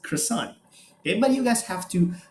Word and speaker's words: croissant: we use it okay quasang we just change how it's being uh being pronounced croissant anybody you guys have